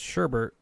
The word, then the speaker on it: sherbert: Sherbet, with an additional R in the second syllable and pronounced sherbet, is less commonly used.